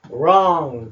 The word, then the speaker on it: wrong: W가 묵음이고요. O 소리 리을만 내면 됩니다. wrong, 잘못된.